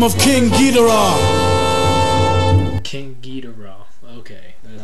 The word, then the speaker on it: King Geedorah: King Geedorah.